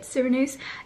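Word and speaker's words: Sirenuse: heard of before emporio surinuse um and the cyranoses actually so how you say it syranuse is actually a really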